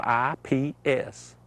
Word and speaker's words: Ips: It's spelled I-P-S, Ips.